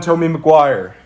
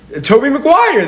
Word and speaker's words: Tobey Maguire: Tommy Maguire. Can you say it like a normal person? Toby Maguire. That is how you say it.